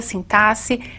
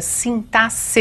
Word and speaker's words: sintaxe: vocês uma parte da sintaxe e é assim mesmo que se pronuncia sintasse e não sintaxe como alguns querem não é então a